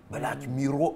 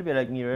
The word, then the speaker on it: Black Mirror: که بلک میرور بخوا همه تو ایران میگن بلک میرور من میگم کامل تلفظ ایرانی میرور اوکیه ولی بلک میرر میرر درست داره من دیگه مرور کردم بعد از اون که بهم انقدر گیر دادن دیگه گفتم بلک میرر بله ببخشید میگم کلامتون